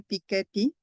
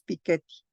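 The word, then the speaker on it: Piketty: saliera el libro de piqueti y además se pronuncia piquet porque los franceses pronuncias todo con acento en la última sílaba piquet pero bueno aquí le decimos piqueti entonces antes de su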